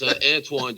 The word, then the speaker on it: Antoine: Just Antowan, just how it sounds.